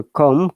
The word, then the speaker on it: comb: and that plural s sounds like zed so comb comes climbed it doesn't have a plural crumb